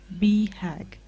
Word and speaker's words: BHAG: grace i recently came across the concept of be hagg the it's spelt b-h-a-g the acronym for big audacious hairy